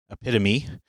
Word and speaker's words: epitome: offbeat syllable emphasis because the emphasis goes on the pit epitome is because it is of Greek origin and there are a number of Greek words that because they are from Greek that they pronounce all the vow sounds and there are no silent vowels okay and this comes